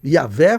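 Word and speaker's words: Yahweh: Eu coloquei aí o nome de Deus como a pronúncia mais aceita em hebraico, né, Yahé, tá bom?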